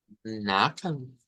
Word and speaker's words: Nachfragen: Eh, Nachfragen. Ya al escucharlo, pues entendemos mejor de dónde viene el sonido. Nachfragen. Nachfragen. Entonces, aquí nos están diciendo que el acento debe ser en la primera sílaba.